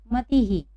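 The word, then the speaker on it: मतिः: हम इसको पढ़ेंगे मती ही। समझ में आ रहा है आप सभी को? जहाँ मात्रा न हो तो वहाँ ह उच्चारण होता है, आ की मात्रा हो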